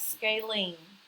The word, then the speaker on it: scalene: And you pronounce that scalene.